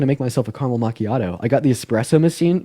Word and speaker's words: macchiato: did the a go macchiato it's it's like a side ma no no macchiato that's how you pronounce it no no no way